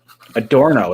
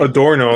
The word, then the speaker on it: Adorno: Adorno is how you say it, apparently. Adorno, there you go.